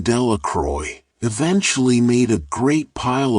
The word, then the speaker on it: Delacroix: Bobby and Harry Jones and Dickie Delacroix, the villagers pronounced this name Delacroix, eventually made a great pile of stones in